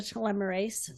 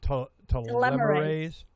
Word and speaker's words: telomerase: Well, one of the things is to increase the telomerase so that they're, taking care of the. I got to say it right. Now, how do you do that? Telomerase.